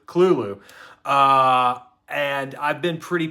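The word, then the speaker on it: Cthulhu: pronunciation in a second not cthulu Kulu uh and I've been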